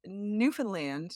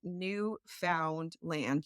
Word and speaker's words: Newfoundland: It's Newfoundland, not Newfound land. You don't need to pronounce all the syllables individually. Just run them all together.